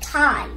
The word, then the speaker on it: chi: Do not pronounce it like key, pronounce it like chi.